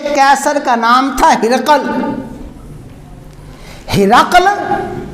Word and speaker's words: ہرقل: ہرقل یعنی ہے را قاف پہ سکون، ہرقل.